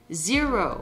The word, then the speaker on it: zero: Attention, pour prononcer le R en milieu de mot, il faut positionner la langue à plat comme pour le L. Puis plier la langue vers l'arrière en dirigeant la pointe vers le haut.